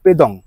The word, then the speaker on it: পেডং: পেডং পৌঁছলাম পেডং বা পেদং একচুয়ালি এর উচ্চারণটা হচ্ছে পেদং পৌঁছলাম তো এই মুহূর্তে